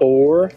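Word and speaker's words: Oure: How do you pronounce it? Like, or? Or, I think so.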